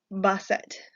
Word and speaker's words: Bastet: You can pronounce this as ba, like a sheep makes, and set. Basset.